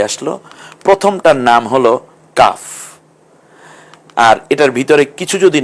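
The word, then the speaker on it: قاف: হরফের ভিন্ন নাম হবে কফ একটু জিহ্বার গোড়ার অংশের দিক থেকে কফ একটু গম্ভীর আওয়াজে যেমন কাক ডাকে সেভাবেই কফ কয়েকবার বলতে পারেন আপনি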